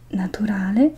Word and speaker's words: natural: La parola natura si dice nature, ma la parola naturale si pronuncia natural. Quindi, anche se l'etimologia è la stessa, la pronuncia della vocale cambia parecchio.